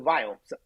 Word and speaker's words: Viome: So most people who may not know, I started a healthcare company called Viome. And as an Indian guy, I cannot pronounce the word we. So it's V as in Victor.